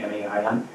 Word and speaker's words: Main: Now, if you look at, we anglicize it as Main, M-A-I-N, but in German it's Main.